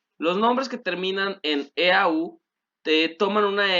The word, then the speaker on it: eau: Los nombres que terminan en EAU te toman una X en el plural, o sea, al final se escribe una X. Recuerden que EAU en francés se pronuncia O, ¿vale?